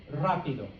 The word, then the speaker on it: rápido: Now, the last thing I have here, okay, is any R at the beginning of a word, okay, is the same as this, okay? So you still got to do the rrr, okay? So clase, rápido, romántico, okay?